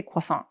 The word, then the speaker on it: croissant: French influence yeah that's they say they say quas that's technically how it's pronounced but I'm an English